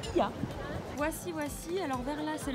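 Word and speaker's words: Oia: On a commencé par Oya, mais en fait, qui apparemment se prononce Ia.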